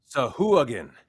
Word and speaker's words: Sahuagin: Mercer pronunciations. Yeah, just that I can just click them. Sahuagin.